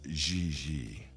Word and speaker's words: JJ: gg jj on fiance you pronounce g like j and j like g she may very well be jj in america but in france she is gigi how well does she